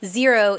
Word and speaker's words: Xero: And side note, if you are listening and you're not watching the video version, so Xero is Xero, not spelled with a Z.